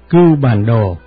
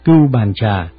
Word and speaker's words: Cưu Bàn Đồ: Đúng ra những chữ này phải đọc là Cưu Bàn Đồ, nhưng hiện nay những người tụng chú đều đọc là Cưu Bàn Trà. Có lẽ Cưu Bàn Đồ cũng biết mình bị đổi tên rồi, do vậy quý vị có đọc là Cưu Bàn Trà thì cũng được linh ứng như nhau, cho nên tên gọi